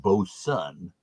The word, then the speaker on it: Bozen: at 5.4 abv and even though it looks like it's boatswain it's actually pronounced boson and this is brewed